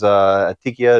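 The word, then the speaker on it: Antakya: So this will be the historical area of Antioch, and this is Atikia is how I believe you pronounce the city.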